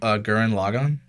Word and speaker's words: Gurren Lagann: Gurren Lagann. Everyone should watch it because it's really good. How do you say that one more time? Gurren Lagann.